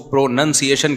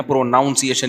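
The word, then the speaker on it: pronunciation: है प्रोनाउन है लेकिन जब इसको प्रोनंसिएशन कहेंगे ना प्रोनाउंस एशन नहीं कहते तो मैं अपनी तरफ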